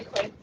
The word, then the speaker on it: quid: In an argument with your mother, you can say quid. It rhymes with squid.